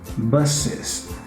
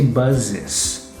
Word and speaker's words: buses: example is the plural of bus yeah buses buses don't say buzzes yeah because the word bus is not a